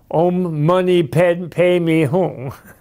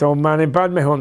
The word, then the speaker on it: Om Mani Padme Hum: all like to say Om Mani Padme Hum, but remember, don't make that, turn that into Om Mani Padme Hum. He says, don't say it like that. It's Om Mani Padme Hum, not Om Mani Padme Hum.